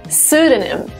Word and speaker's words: pseudonym: Yes, not pseudonym. Pseudonym. The first P is silent.